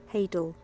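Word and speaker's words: hadal: and here it goes here's our pronunciation hadel it is hadel I'm sorry Leo hael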